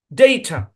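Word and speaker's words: data: এখানে কোন চাপ নাই যেহেতু এখানে চাপ পড়ে সুতরাং এখানে ভাওয়েলের মূল সাউন্ডেই আসবে আর যেহেতু এই অংশে চাপ পড়ে না সুতরাং এই এ তার মূল সাউন্ড দিবে না এখানে সউন্ড আসবে ডেইট একাধিক সিলেবল বিশিষ্ট শব্দে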